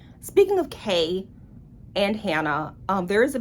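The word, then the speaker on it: Kei: Speaking of Kai, I don't want to call him Kai because it's spelled K-E-I, that's why. Speaking of Kay and Hannah, there is a bit of an insta-love here.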